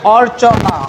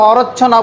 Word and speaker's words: অর্চনা: যেমন এখানে আমরা লিখেছি অর্চনা, অর্চনা, খেয়াল করে নাও, অর্চনা। তাহলে এটাকে আমি কখনো অরচ্ছনা বলবো না, অরচ্ছনা বলবো না, অর্থাৎ 2বার উচ্চারণ করা হবে না।